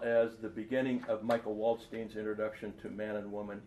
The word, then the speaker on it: Waldstein: Now, Michael Waldstein is our American pronunciation of Michael Waldstein. So if this gets out there to wherever, I better do the Waldstein thing, because otherwise I'm going